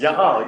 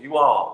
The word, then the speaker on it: y'all: it two syllables. You all. No. It's y'all. No. Y'all. Y'all.